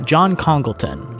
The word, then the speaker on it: John Congleton: Yeah, John Congleton.